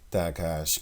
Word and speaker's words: tahash: tahash or attack hash according to them it's pronounced like that takash covering in the tabernacle